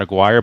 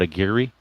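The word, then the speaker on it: Aguirre: position with nobody out so you're saying it's pronounced Hank Airi is that how it's pronounced Hank Airi not aguire but Airi is that correct Ben Hank Airi okay we'll C with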